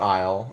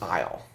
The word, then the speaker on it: Aysle: mile and one of the interesting things about Isle in toward eternity is that the invaders this